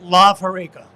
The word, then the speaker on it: Lav Horeca: So we're calling it Lav Horeca. Lav, L-A-V, Horeca.